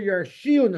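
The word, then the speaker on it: ירשיען: But the third one, it says Asher Yarshiun Elohim. Elohim. Yarshiun is pronounced as if there was a vav in it, which is referring to 2 people.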